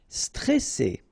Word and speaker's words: stressé: Okay, remember you've got double S here, so you pronounce it really strong while it's between two vowels. So C, all right, and then here you get this E before the double S, so it will open the pronunciation of the E.